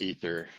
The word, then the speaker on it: Aether: the next person oh ather how are you did I pronounce your name right I I actually go by Aether but it's technically pronounced ether well we're gonna go